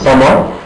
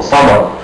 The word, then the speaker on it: summer: If you found any R letter, any R letter by the end of the word, you don't have to pronunciate it.